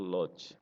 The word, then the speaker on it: Lodge: untuk usaha penyewaan kamar yaitu logs tulisannya Lodge ya dibacanya lots yaitu usaha yang hanya